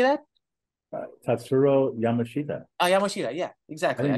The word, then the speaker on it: Tatsuro Yamashita: I don't even know if that's the way you pronounce it. Like Tatsuro Yamashita. How do you say that? Tatsuro Yamashita.